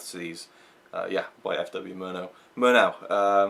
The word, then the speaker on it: Murnau: Murnau, always got that name wrong, but yeah, Murnau, this was his last